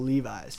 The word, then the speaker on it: Levis: I mean I uh Levi's Levis people pronounce my last name like Levi's all the time because of the